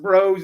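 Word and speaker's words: Broz: b-r-o-z is it braz is it bras is it is bros short for shoot your name since it's b-r-o-z but it's pronounced bros it's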